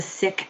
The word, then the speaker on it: Sikh: out with he's a sick activist that's s-i-k-h not sikh but sick that's how we pronounce it um he's doing incredible